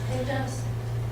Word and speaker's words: PEMDAS: Do you pronounce that P-E-M-D-A-S as PEMDAS?